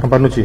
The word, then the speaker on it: Campanucci: Ezequiel Campanucci, se escribe Campanucci, se pronuncia Campanucci, ¿verdad? Campanucci, sí.